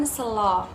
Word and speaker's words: Sela: Sela biasanya diucapkan Selo.